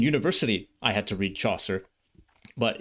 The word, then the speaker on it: Chaucer: Geoffrey comes from Geoffrey Chaucer, and Chaucer rhymes with saucer.